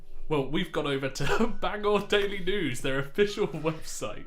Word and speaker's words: Bangor: Is it Bangor or Banganger? Banger. Banger. Bangor. Banger. Bang. It's whatever the one we have in Wales is. It's that version. It's But it's American. They change how everything's pronounced.